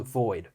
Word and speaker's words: V01D: But it's not spelled in the traditional way. It's spelled like V01D. But then it's called Void, right?